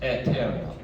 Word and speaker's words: aeterna: Just like an E in Latin. Lux eterna. I don't want to aeterna. It just sounds real tacky. So lux eterna. The E vowel and the AE combination is still pronounced eh.